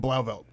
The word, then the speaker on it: Blauvelt: I can't We're pronounce. in Blauvelt.